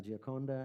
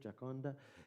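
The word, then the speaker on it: Gioconda: woman is is uh in italian la giaconda i think giaconda and then in uh in french it's like jacomd all right which i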